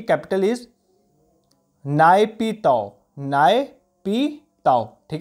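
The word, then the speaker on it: Naypyidaw: तो म्यांमार की अगर मैं बात करूं, म्यांमार की अगर बात करूं तो म्यांमार की कैपिटल इज नायपीताओ।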